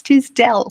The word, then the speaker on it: Tisdell: I'm like, it's Tisdell.